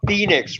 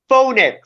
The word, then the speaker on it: Phoenix: Well, you guys know how Phoenix is supposed to be called Phoenix, right? Well, I know some people, mostly at work, that call Phoenix Phonix.